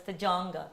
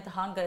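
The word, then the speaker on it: Tujunga: So one you said is in Tahanga.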